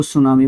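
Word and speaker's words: tsunami: उसको सुनामी बोलते हैं। स्पेलिंग पूछी जाती है क्योंकि टी से शुरू होती है। तो टी इसमें क्या होता है? साइलेंट आपका होता है।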